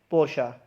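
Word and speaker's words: Porsche: तो इसकी सही प्रोनाउंसिएशन क्या है, पोर्शा।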